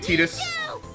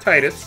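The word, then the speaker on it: Tidus: name ttus all righty I'm pronouncing it Titus not Titus take it easy now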